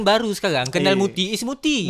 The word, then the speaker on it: Murty: No, generation baru sekarang kenal Murty is Murty. Murty. It's Murty now. Sebab Murty lagi senang, you know, it rhymes with tak ada kaki.